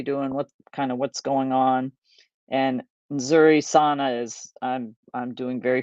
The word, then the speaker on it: nzuri: So most people just say Habari and then Nzuri. So it's NZ is like nz, and it takes a minute to learn how to do those pronunciations.